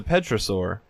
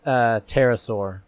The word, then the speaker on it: pterosaur: It's a petrosaur. And pterosaur. Yeah. Petrosaur? Yeah, petrosaur. Pedophilosaur? Pedophilosaur? Okay. Is it not pronounced petrosaur? It's pterosaur.